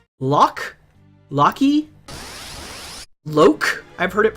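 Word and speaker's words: Locke: breath hate your face lock is pronounced lock okay light curtain There's real people with the name lock is both person surnames and said lock cool all right that is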